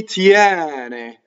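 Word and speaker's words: tiene: Mi tiɛne. So the E after semivowel in most verbs is going to be open. Tiɛne.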